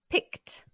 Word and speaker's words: picked: He picked. On le prononce t. Le dernier son de la base du verbe étant le son k.